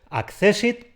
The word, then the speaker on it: accésit: castellanizado en la ortografía por eso es accésit con dos tests pero con una sola s y con su tilde para que nos acordemos de que eso hay que pronunciarlo como palabra jana insisto y como forman